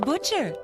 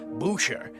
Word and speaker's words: Boucher: Butcher. Oh, I'm sorry. It's pronounced Boucher, not Butcher.